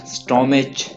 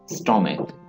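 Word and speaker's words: stomach: स्टोमक, मैदा, स्टोमक, स्टोमेच ना पढ़िएगा इसे, स्टोमक। यहाँ पे आप समझ लेंगे CH जो है यहाँ पे काफ की आवाज दे रहा है, तो इसे पढ़ेंगे आप स्टोमक।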